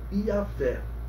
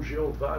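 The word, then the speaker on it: Iavé: tagr sagrado e que a pronúncia mais aceitável é i Fé ou como alguns erradamente pronunciam Jeová Jeová não é a transliteração correta também vamos lembrar o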